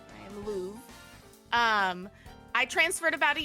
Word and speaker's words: Louve: pup by the way it's pronounced Lou for anyone who's wondering I am Lou um I transferred about